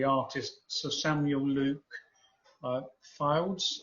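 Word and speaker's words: Fildes: sir samuel luke uh files i think that's how you pronounce his name f-i-l-d-e-s um and uh the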